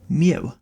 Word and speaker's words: mu: We haven't really discussed this yet, but this right here, this is a Greek letter called mu, and that's how it's pronounced.